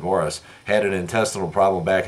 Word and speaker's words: Maurice: Robin's twin brother Morris it is pronounced Morris it looks like Maurice but he pronounced it Morris had an intestinal problem